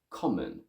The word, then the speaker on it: common: of both vowel sounds i would say something like come on in english i say common common common basically the role of